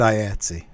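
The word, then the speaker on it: IATSE: member high with that yeah they pronounce it i etsy i yeah see okay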